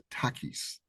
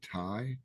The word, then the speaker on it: Takis: uh by birth uh you say my name as Takis technically um nobody calls me that though everybody pretty much calls me Tai like um if you feel